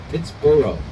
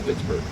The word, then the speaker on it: Pittsburgh: And so he would have pronounced it Pittsboro. So the village of Pittsboro was chartered in 1758. We don't know exactly how long it took us as Pittsburghers to smash that together from 3 syllables into 2, but of course you know it today, and love it today, as Pittsburgh.